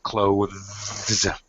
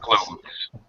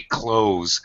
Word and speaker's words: clothes: right the dictionary pronunciation you have to pronounce the th the voiced th sound clothes all right clothes one syllable word no